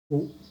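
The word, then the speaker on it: を: Ali o ele se pronuncia o, né? É W o que se escreve, mas é o ou, né?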